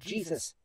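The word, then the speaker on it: Jesús: his father's name was indeed Jesus but it's pronounced the way they do in Mexico right out of high school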